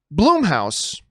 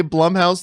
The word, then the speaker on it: Blumhouse: it's bloom house actually or our Blum house I'm pretty sure it's Blum house cuz it's Jason Blum and it's named after him and yet for some